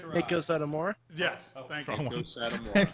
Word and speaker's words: Meiko Satomura: I kind of want to add someone to the Becky Lynch and how do you pronounce her name? Meiko Satomura?